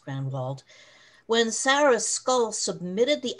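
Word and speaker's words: Grenewald: the name to grenwald spelled g-r-e-n-e-w-a-l-d and it is pronounced grand vault when sarah skull submitted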